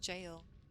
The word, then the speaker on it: Gaol: Oh, jail. It's yeah, it's pronounced jail.